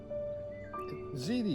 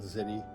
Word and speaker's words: ziti: We have our ziti is how you pronounce it, isn't it? Mm-hmm. Not ziti, it's ziti.